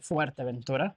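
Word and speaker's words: Fuerteventura: How do you say Fuerta Ventura? Fuerta Ventura. Good pronunciation though.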